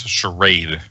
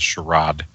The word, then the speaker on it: charade: I I to me it's charade, not sherrod.